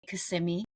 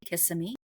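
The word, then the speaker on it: Kissimmee: Uh if you want to further that little pinpoint, CMI or as non-locals say kissm Florida.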